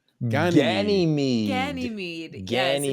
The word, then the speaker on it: Ganymede: Ganymede. It's Ganymede. Ganymede.